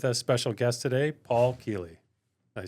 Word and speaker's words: Kealy: And with us, special guest today, Paul Kealy. Did I say it right, Paul? You did. We were wondering how to pronounce your last name before you got here.